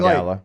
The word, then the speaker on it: Gala: Well, because I just say think Gala. like guys and gals, like gal is GAL. You're just adding an A.